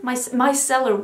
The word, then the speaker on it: micellar: Micellar water, that's how you pronounce it in English.